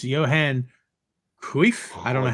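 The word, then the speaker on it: Johan Cruyff: the honor is ours but is pronounced Johan kif I don't know how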